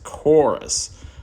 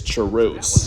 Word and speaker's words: Charus: They named my character after me, although people kept mispronouncing it as Chorus. But obviously it's Charus.